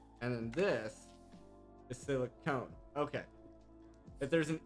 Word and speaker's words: silicon: Pronunciation of the silicon. Okay, so then silicon, and then this is silicone.